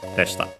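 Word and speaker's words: でした: then attach the ta, desta. The accent should be still on the de. The e is barely heard, if at all, because it's between unvoiced consonants. And so yeah, de sta, high, low, low.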